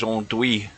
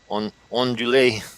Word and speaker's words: andouille: Well, I'm actually a tactical linguist as well, so I would pronounce that as andouille. Or ondulé. Because I think your L's are silent in that, the way that's spelt out, andouille.